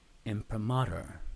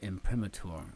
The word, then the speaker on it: imprimatur: seal of approval is an m premature imprimatur or imprimatur I think those are two ways to pronounce that I had two professors